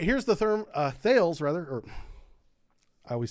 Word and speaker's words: Thales: All right, here's the therm uh thales rather or I always say this name wrong. Talos is pronounced Talos.